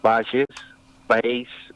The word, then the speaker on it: Bayes: Hace 3, 4 siglos había un matemático inglés, Bayes, sería la pronunciación, que hablaba, y hay muchos teoremas que